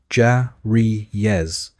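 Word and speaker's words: cariye: At the very bottom were the carriers pronounced ja-ri-yes, the novices and general servants.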